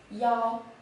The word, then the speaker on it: 腰: This character is pronounced as y'all, y'all.